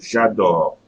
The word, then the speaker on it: j'adore: So j'adore. J'adore. Okay, I'm not pronouncing the E.